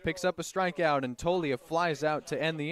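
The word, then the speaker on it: Toglia: He gets Darcy swinging, and now we'll see Zach Tolia. Zach Tolia, affectionately known as Togs, which I find funny because the G in his last name is silent, yet it's part of his nickname.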